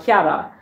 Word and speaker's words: Chiara: so my name is italian chiara it's actually pronounced kiara but in english my name means clear or